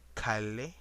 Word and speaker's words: calle: You would actually say this as llama, or a word called calle. It would actually be pronounced as calle, or the word for horse, which is spelled as CABALLO.